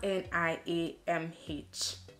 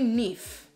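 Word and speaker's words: Niamh: in my course, and I used to call her Niam, like, you know how it's spelled, like you kind of call her Niam and then just forget the H, and because to you it's almost silent, but then it's actually Nif, and it amazes me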